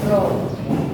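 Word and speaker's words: rho: Nah, masya di sini lambangnya itu dia seperti huruf P tapi melengkung dan dibaca roho dibacanya roh.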